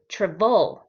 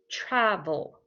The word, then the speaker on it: travel: then vol travel and we do not say the word travol travolt we say travel travel so the first part of the word is stress we say it louder travel we focus on that syllable okay so lucia do